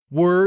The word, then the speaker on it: were: free for the afternoon were is pronounced to rhyme with bur and stir